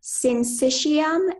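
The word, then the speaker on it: syncytium: there any alternate pronunciations there's syncycium and synition sensation am I saying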